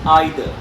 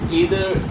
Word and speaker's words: either: each either or neither either can also be pronounced as either okay so either is the I think uh this is a US version and either is British or I do have to check this but both the pronunciation are correct so either or either